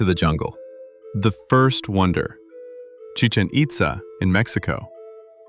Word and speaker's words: Chichén Itzá: The first wonder chichanita in Mexico. Wait, how do you pronounce this one? Chicken pizza.